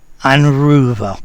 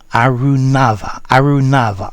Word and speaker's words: Arunava: Anruva, well done. Arunava. I'm sorry, Arunava.